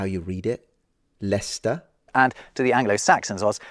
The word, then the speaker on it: Leicester: Celtic tribe is that how you read it leester and to the Anglo-Saxons was lierre you can